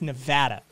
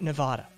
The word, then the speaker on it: Nevada: piss off nevadans um it's nevada not nevada it's a point of contention in this state just trust me um